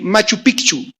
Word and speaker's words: Machu Picchu: cuántos han visto apenas vi unas imágenes sobre Machu Picchu yo no sabía que se pronuncia correctamente no es Machu Picchu allá con